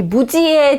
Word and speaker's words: Muzi: 자, 영어로는 이렇게 Muzi라고 쓸 수 있는데 Muzi라고 발음하겠죠. 근데 무지입니다. 무지.